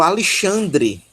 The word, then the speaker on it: Alexandre: nome Ó Alexandro Alexandro se a sílaba tônica é o lei tá é justamente o Alexandre Alexandre Alexandre é justamente a pronúncia portuguesa desse nome de origem grega um ok eu vou